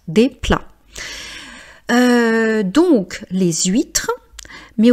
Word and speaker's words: plats: Donc on dit un plat des plats. Donc c'est quelque chose de masculin. Donc on ne prononce pas le T et on ne prononce pas le s. Donc on dit pas des plates des plats.